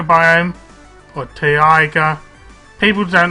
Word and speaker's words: taiga: You can see you start between a taiga biome, or taiga. People don't like how I pronounce taiga, but it's T-A-I-G-A biome, and a swamp biome.